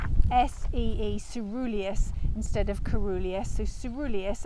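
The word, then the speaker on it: caerulea: word up so well I was calling it corulia so for a start it says it's cerulea so it should be pronounced s-e-e ceruleus instead of Corolla so ceruleus and it means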